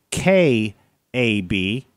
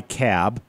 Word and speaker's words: Kab: search for these guys it's k a bee they go by cab right call them kab but spell it right because it's easier to